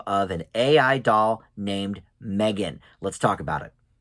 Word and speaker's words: M3GAN: number three um so M3 again but it's pronounced Megan of course um and this is about an